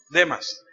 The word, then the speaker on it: Demas: Demas, no estoy seguro si se pronuncia así. Maestra, ¿usted sabe? ¿Demas o Demas? Demas.